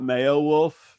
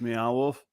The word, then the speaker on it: Meow Wolf: beow wolf it's not it's not mayow wolf it's it's meow wolf I think it's meow